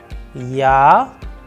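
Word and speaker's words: я: For example, in case of Ya, with the help of English, we have used Y and A, and when we are going to pronounce them together, the sound would resemble to Ya.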